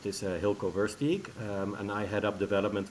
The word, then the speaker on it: Hylko Versteeg: yeah so my name is i you well pronounced this uh hilco verse geek and i head up development for ihd hotels